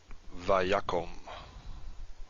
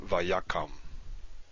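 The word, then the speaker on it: וַיָּקׇם: So it's pronounced vayakom, not vayakam.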